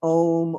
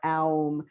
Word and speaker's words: Om: know everybody who's here you can say it either as ohm or aum if you're doing a